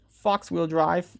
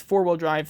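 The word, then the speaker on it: Faux Wheel Drive: Fox-wheel drive, but it's four-wheel drive. That's how you pronounce it.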